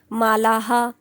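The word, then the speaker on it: मालाः: म्हणून ह म्हणणार देवह मालाहा आता आकारांत आहे म्हणून हा म्हणणार मालाहा लिहायचं नाही पण बोलायचं असत ते मालाहा कवी आता इकारांत आहे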